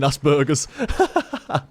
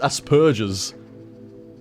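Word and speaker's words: Asperger's: a p in there there is a p in there it's asperges that's how that's how I pronounce it anyway asperges as far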